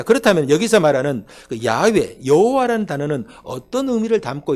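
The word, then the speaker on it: 야웨: 히브리어에서이 된이 에라는이 단어를 그 자음으로만 읽으면 야외라 단어가 나오 발음이 나와요 야외 그런데 이것을 모음을 첨가해서 모음을 따라 읽으면 여호와라는게 나오는 거예요 그러니까 여호와라는 단어와 야라는 단어가 똑같은 단어를 자음만 가지고 읽으면 야외 이렇게 읽혀지는 것이고 거기에 모음을 넣어서 읽으면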